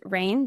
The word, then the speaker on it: Rayne: My first name is Rayne, just pronounced just like the weather, but spelled Rayne.